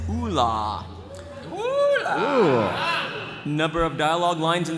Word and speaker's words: Oola: that character for us the official pronunciation for this character is Oola number of dialogue lines